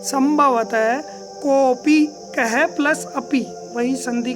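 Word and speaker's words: कोऽपि: जी हाँ दोस्तों, इसको उच्चारण करने में आधा है तो इसको साइलेंट की तरह ही रहने देते हैं। कोपी, कोई भी, कोड भी जो बोलते हैं दोस्तों, कई बच्चे बोलते हैं तो वो अशुद्ध है, आप इस चीज़ को शुद्ध करें।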